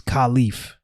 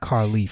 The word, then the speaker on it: Khalif: My government name, since she's calling it out, is Khalif. It's not Carleaf.